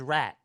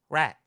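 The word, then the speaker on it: Rheet: My last name is Rat. That's R-H-E-E-T. Last name R-H-E-E-T. Yes. How do you pronounce that? Rat.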